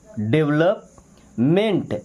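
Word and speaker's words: development: Dave क्या पढ़ते हैं डेव लोप नहीं पढ़ते लप डेवलप मेंट एम इ एन टी क्या हो जाएगा मेंट डेव लप मेंट यहां यहां पे ई साइलेंट है।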